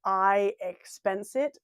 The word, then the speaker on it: iXpenseIt: So I use an app called iExpensit. It's spelled really strangely. IXPENSEIT. So it's like expense it without the E in front of the expense.